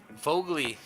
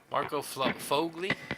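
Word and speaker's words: Sfogli: The S is silent. Fogli. Marco Fogli.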